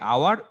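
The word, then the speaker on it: hour: তারপরে দেখো এইচ যখন সাইলেন্ট থাকে, দেখো তো এ হবে নাকি এন হবে? আওয়ার, HUUR, আওয়ার। দেখো এইচটা সাইলেন্ট, সবখানে কিন্তু আবার এইচ সাইলেন্ট করো না আবার। দেখো এইচ সাইলেন্ট এখানে, সবখানে এইচ কিন্তু আবার সাইলেন্ট করে ফেলো না, তাহলে আওয়ার। দেখো তারপর দেখো অনেস্ট, HONEST,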